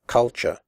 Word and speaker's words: culture: roof inn but and the last syllable is pronounced sure here are some other